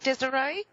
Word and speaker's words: Desiree: Did I pronounce it correct? Is it Desiree? Yeah, it's correct.